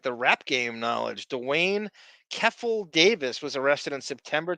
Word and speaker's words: Keffe: Keith? Keffe. Okay, Keith. So you're not pronouncing the TH, you're pronouncing F.